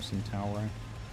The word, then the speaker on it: Centauro: Centauro. It's more Italian if you say it like that, doesn't it?